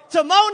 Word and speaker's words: Timon: Timon and Pumbaa.